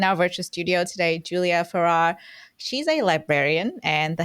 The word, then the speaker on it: Feerrar: And she was like, it's like Ferrari, just without the last syllable.